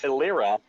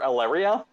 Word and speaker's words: Eleira: also couldn't say her name properly so it's illyra is the pronunciation but he he kept calling her alleria yeah yeah but no um so i in